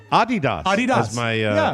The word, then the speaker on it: Adidas: It comes from the name of the founder, Adolf Dassler, whose nickname was Adi.